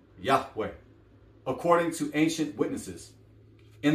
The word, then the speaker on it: Yahweh: in our community the Creator's name is commonly pronounced as Yahweh Yahweh I'm not read this paragraph family but